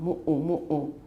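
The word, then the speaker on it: muʻu: 然后女生爱穿的那个像睡衣的长袍叫 mu'u. It's M-U, glottal stop U, M-U, glottal stop U. It's reduplicated. So mu'u.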